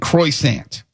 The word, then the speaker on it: croissant: it saying crosant and croissant. I've never said that. So it's not croissant. It It's qua k w ah. Cassant. You got to roll your ars.